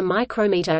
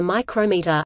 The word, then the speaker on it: micrometer: In spoken English, they may be distinguished by pronunciation, as the name of the measuring device is invariably stressed on the second syllable, whereas the systematic pronunciation